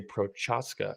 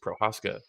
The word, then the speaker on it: Procházka: I don't think you say Prochazka. I think it's just Procházka.